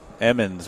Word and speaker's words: Emmons: Emmons.